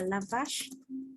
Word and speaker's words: la vache: Thì cái đấy là nó đọc kiểu phiên âm thôi, còn từ đúng của nó sẽ là la vache.